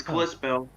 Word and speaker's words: Kalispell: Yes, it's Kalispell. Klispell, if I'm not mistaken. I'm talking more about the pronunciation than anything.